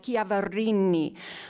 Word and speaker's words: Chiaverini: If you want to say Chiaverini, say it like that. You have to roll the R, say it like a true Italian, Chiaverini.